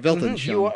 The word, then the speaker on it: Weltanschauung: He says that the worldview came into the English language through the German Weltanschauung. I think that's how you say it. Yeah, that's right. Weltanschauung.